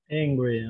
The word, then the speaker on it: angry: Okay, wait. Uh-huh. Hungry. Hungry. Like this. Hungry. Hungry. Ah. And the other one is angry. Angry. Okay. Angry. That is the difference. Be careful. Hungry, angry.